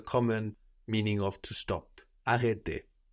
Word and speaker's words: arrêter: To stop in French is arrêter, arrêter, to stop. Arrêter. That's spelled A-R-R-E with a little hat on it, T-E-R.